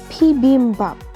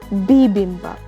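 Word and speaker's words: 비빔밥: have no idea but the word is pronounced as P beam bump it is not bibimbap but an English website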